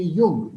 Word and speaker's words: Jung: Jung. The J is silent, so we pronounce it as Jung, not Jung, right?